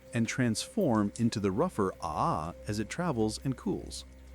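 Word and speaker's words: ʻaʻā: The second type of basaltic lava is called ah pronounced ah.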